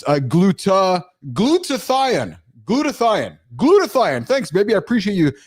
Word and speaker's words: glutathione: there is a, excuse me, so it's a glutathione. Thanks, baby. I appreciate you helping me pronounce that correctly here.